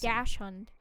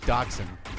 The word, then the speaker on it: dachshund: It's a doxy. Dash hunt. That's another name for It's the same thing. You You're pronouncing it weird.